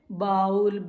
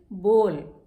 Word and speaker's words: bowl: उसको हम क्या कहते हैं, बाउल. BOWL बोल देते हैं उसको हम. No, this is wrong. The correct pronunciation for इट इज बोल. बोल. BOWL, बाउल नहीं. दिस इज कॉल्ड बोल.